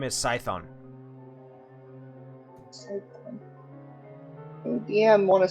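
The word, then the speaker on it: Scython: for the tafeling over there the name is cython dm want to spell that for me all right yes all right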